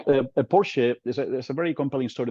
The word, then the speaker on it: Porsche: guys probably pronounce it Porsche but in German they Excel they call Porsche they pronounce the final e so I'm gonna pronounce